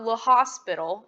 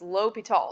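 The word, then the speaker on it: L'Hôpital: So this is a French name, so get used to pronouncing your French names there. It's not Le Hospital, it's L'Hopital.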